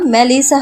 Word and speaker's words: মেলিসা: চিৎকার করে আদনান বলে, এই মেলিচার বাচ্চা। ওটা মেলিচা না মেলিসা হবে।